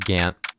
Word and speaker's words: Gaunt: I know it's pronounced Gant, but I'm already mispronouncing everyone's names on purpose, so I might as well.